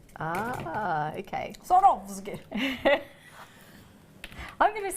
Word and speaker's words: Swarovski: It always confuses when there's a W there. It takes about half an hour to say. Pretend it's not there. You're sawing off your skis. Sorovski. Ah, okay. Sorovski.